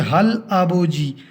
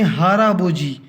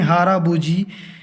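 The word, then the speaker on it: 할아버지: तरह पढ़ना है तो ये हल आबोजी पढ़ेंगे, लेकिन इस तरह लिखा हो तो हमने हाराबोजी। तो कोरियन जो सही तरीके से इस तरह इसी तरह ही पढ़ते हैं, हाराबोजी, क्योंकि इंग तो इधर साइलेंट है और ये जो आखिरी कॉन्सोनेंट है वो इधर चला जाएगा।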